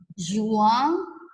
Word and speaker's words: juin: Nih, janvier, bacanya gini ya, janvier, février, mars, avril, Mei, juin, bukan juan ya teman kalian, tapi juin.